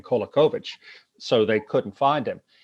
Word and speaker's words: Kolakovic: Let's talk about Father Tomislav, I pronounce this correct, Kolakovic, and the vision. Kolakovic, yeah, you almost got it, yeah.